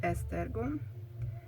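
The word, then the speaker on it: Esztergom: then the name of the town which is pronounced estergo and finally the name of the ipad prints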